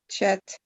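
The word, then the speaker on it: חית: Chet. So this is pronounced chet.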